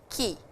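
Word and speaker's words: 木: Ki. This is ki. The pronunciation is ki.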